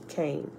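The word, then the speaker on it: Kain: K-A-I-N, K-N, but Cain.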